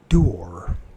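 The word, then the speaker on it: Doore: Let's make sure it's pronouncing the name right. Dior. Dior. Dior. Dior. So it's Dorr.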